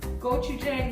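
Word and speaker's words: gochujang: I was thinking about making those gochu jang meatballs. And I'm glad go this every time. Spell it.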